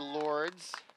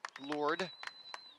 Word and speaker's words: Lourdes: substitutions coming in for Lourdes Lourdes sorry shouldn't be the S is silent hard not to do